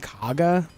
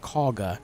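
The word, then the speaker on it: Kagha: I keep saying Kaga, but they pronounce it Kaga in game.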